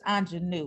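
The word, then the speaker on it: Aunjanue: an amazing film and last week i pronounced uh the actress's name wrong it's anjanu right um so she's jealous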